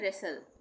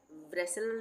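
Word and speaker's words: wrestle: यहां पे भी डब्ल्यू का उच्चारण नहीं हो रहा है ना? इसको हम पढ़ रहे हैं रेसल। ब्रसल नहीं पढ़ रहे हैं।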